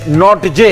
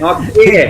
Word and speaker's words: Nortje: लिखते कुछ है, बोलते कुछ है। ANRICHNORTJE, एनरिच नॉट जे है, लेकिन इनको बुला जाता है एनरिक नोकिया। तो ये है नौकिए।